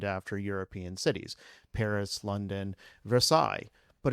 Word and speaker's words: Versailles: There are a lot of cities in Kentucky named after European cities: Paris, London, Versailles. But if you pronounce it Versailles, nobody knows what you're talking about.